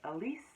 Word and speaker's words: Alice: name was Alice and it is spelled exactly the same in Portuguese and you just say it Elise and it's one of